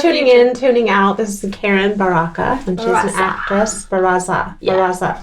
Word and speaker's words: Barraza: She called me Barraza. Barraza. I was like, not Italian, Mexican. You pronounce the R's, not the Z.